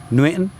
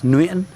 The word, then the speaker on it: Nguyễn: Now you'll notice Nguyễn has what's called a dấu ngã, and ngã is pronounced, it kind of goes up and down, it's quite a dramatic one, and so you say Nguyễn, Nguyễn, Nguyễn, and this is where